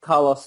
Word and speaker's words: Kalos: stones the stones were found in Kalos. So Carlos. Pronounce it now like Carlos Santana.